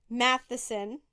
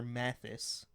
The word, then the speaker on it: Mathis: It's Mary Jeter Mathis, not Matheson.